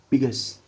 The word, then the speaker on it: biggest: Okay, we'll written it biggest. Oh, without adding vowel. Jadi dari S langsung ke T, jadi jangan S, jadi biggest. Biggest.